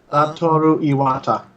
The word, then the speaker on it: Satoru Iwata: Nintendo President Satoru Iwata, I think I just butchered that name, but that's okay. Satoru Iwata.